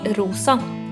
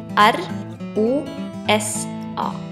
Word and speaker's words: rosa: pink in Norwegian the color pink is called rosa in Norwegian it is spelled r o s a try it rosa This is the color black